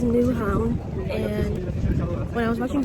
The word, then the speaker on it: Nyhavn: On my way to the chicken sandwich, and I just stumbled upon nyhavn. Nyhavn? I think that's how you say it. I'm gonna learn the proper way to say it. So it is nyhavn, and when I was